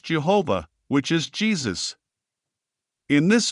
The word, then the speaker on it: Jehovah: It is the first letter in the sacred name of Yod, Hey, Vav, Hey, which is pronounced Jehovah, which is Jesus.